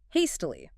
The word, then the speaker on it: hastily: Hastily. Hastily. Hastily. 3 syllables. Stress on the first.